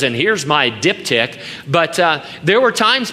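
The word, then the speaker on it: diptych: something called a dipti Di tych and it's pronounced diptic it's described as a pair of folding wax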